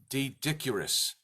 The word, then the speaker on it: Doedicurus: with a consensus and I'm going to pronounce it D dick URIs D dick URIs the word is spelled do e d I see you are us so it looks like doe dick URIs dodok URIs Duet Acuras